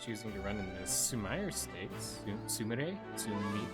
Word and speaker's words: Sumire: to run in the Sumire Stakes. Sumire? Sumire. It's probably Sumire rather than Sumire, because Sumire would be a very English way of pronouncing that. And it's most likely Sumire.